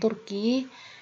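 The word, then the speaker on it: Turc: spesial itu nationality orang Turki untuk maskulang itu Turk dan feminangnya itu Turk bacanya sama tapi tulisannya berbeda nah eh Cukup sekian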